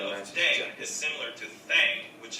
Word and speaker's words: 땡: The pronunciation of Nice. dang is similar to thang, which is the slang of thing in English.